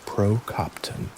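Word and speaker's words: prokoptōn: All stoic practices are essentially tools for the procopton, pronounced procopton, the person making observable continuous progress toward this ideal.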